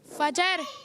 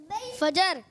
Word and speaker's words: فجر: بھائی جی جی فجر. فجر. جی فجر. فجر. اصل جو تلفظ ہے اس کے وہ ہے فجر.